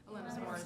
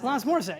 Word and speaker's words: Alanis Morissette: Alanis Morissette. Alanis Morissette.